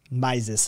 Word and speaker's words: Mises: shared by austrian guru ludwig von mises maises actually i believe this correct pronunciation on that sorry who